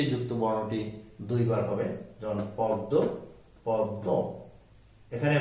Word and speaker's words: পদ্ম: বর্ণটি থাকবে সে যুক্ত বর্ণটি দুইবার হবে যেমন পদ্ম পদ্ম এখানে ম ফলা যেহেতু এটিও নাসিক্য বর্ণ